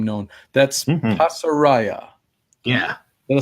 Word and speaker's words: Pasaraya: That's Pasaraya. Yeah. Did I say it right? Yep. Yes, you did. Pasaraya.